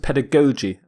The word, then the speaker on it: pedagogy: some people pronounce it pedagogy both are correct according to my dictionary pedagogy pedagogy but the Jesus pronounced differently the first G is hard ger the second G is soft J pedagogy the prefix paired